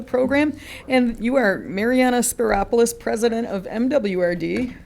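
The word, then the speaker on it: Spyropoulos: get on it but it rhymes with Metropolis if you're wondering how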